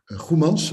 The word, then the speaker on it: Goemans: Goemans. I'm going to pronounce it in a Dutch way, being a Dutch lawyer.